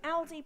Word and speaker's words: Aldi: that so far um aldi pronounced like all day thank you right i'll